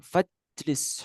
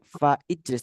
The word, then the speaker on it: fajlis: Fajlis huna, dan duduklah di sini. Fajlis huna. Fajlis, bukan fa ijlis tapi fajlis.